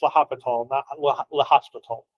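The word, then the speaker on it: L'Hôpital: It's it's pronounced la hospital.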